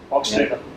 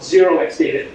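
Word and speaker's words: 0xdata: It's a company called Xdata. They've got a product called H2O. Oxdata. Oxdata. There's debate even in the company if the O is pronounced.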